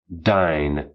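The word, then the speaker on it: dyne: to represent that phrase the syllable is dine d y n e from the Greek dynamis meaning power the multo cabic expression and the monosyllable are equivalent 1 dine equal 1 G cm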